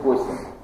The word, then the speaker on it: Госсен: Ну, ударение на первое слово, да, не Госсен, да, лучше говорить Госсен, да, тогда вас на слух поймут.